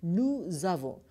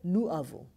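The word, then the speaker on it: nous avons: checked we are pronouncing nu zavo rather nu avo because it has got one liaison so in french just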